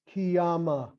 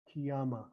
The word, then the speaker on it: Kiyama: and Banat, B-N-A-T, Banat, Kiyama, Kiyama. Now we can pronounce these words with the O sound too.